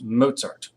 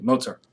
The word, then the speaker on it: Mozart: of the classical era it is Wolfgang Amadeus Mozart please pronounce his name correctly Mozart I had a college professor a philosophy philosophy